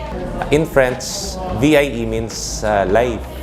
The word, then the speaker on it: Vie: In French, VIE means life. You pronounce it as vie.